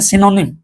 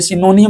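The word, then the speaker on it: synonym: सिनोनिम। ये सिनोनियम नहीं होता। सिनोनिम होता है।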